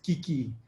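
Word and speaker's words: 危機: So we can pronounce it as kiki.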